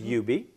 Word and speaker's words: Hubert: internationally award-winning artist named UB it spelled Hubert but it's pronounced you be okay or that's what